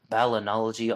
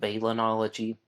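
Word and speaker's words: balneology: a science that is called balinology or sometimes pronounced balenology the science of studying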